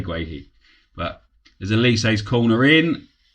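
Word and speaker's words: Guéhi: say, I think it's Gerhi. And then you hear the commentators on the telly say Gerhi. So I'm going to say Gerhi because more people say it, really. Not because I think it's right. It's spelt Guehi. Why can't we say Guehi?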